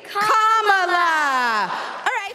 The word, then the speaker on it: Kamala: First you say comma like a comma in a sentence. Then you say la like la la la la la. Put it together and it's 1, 2, 3, Kamala.